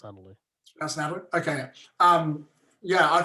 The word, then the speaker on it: Nathalie: It's got a H in it. It's pronounced Natalie.